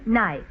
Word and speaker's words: knife: we're going to study words which contain letters we don't pronounce. Now, Mr. Basco, will you volunteer to spell the word knife? Knife. K-N-I-F. And the E is silent.